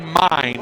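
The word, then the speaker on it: Myn: 3 nothing so RJ mine who spells it m y n but pronounce mine like yours and mine is on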